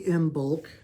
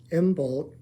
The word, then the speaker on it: Imbolc: And happy Imbolc. It's Imbolc, which is the Celtic celebration of spring. It is on the Celtic calendar, Imbolc.